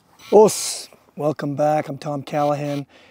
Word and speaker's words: OSU: uh the spirit of O and actually the word o spelled oos s u as many of you know in the U in Japanese language is silent and um so it's